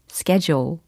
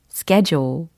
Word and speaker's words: schedule: 영어 발음으로는 schedule, schedule 혹은 schedule 이렇게도 영국식 발음까지 다 섭렵하고 계시죠? 그런데 그 스케줄을 그 뒤에 있는 거예요.